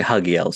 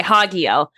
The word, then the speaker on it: Hagiel: Yeah, but so she would say Hagiel, so it sounds more important. Okay, Hagiel.